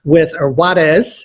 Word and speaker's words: Juarez: Today I'm interviewing Sam Juarez Juarez is the correct pronunciation, with Paget Business Services.